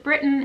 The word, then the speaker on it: Britton: britton riley b-r-i-t-t-o-n riley pronounced britain as in great britain because she's pretty great